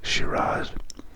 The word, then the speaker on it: Shiraz: variety of shira now you've probably heard this as shira or shiraz it's the same thing just pronounced differently shira written like this